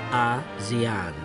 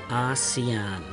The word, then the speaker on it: ASEAN: the name ASEAN, as the pronunciation of ASEAN is close to Asian of the idea to name it ASEAN, and who advised on the pronunciations of ASEAN as ASEAN and not monotonously ASEAN was Adam Malik, the foreign minister of Indonesia.